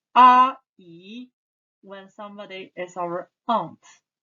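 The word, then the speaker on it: 阿姨: Aunt, 阿姨, aunt, 阿姨.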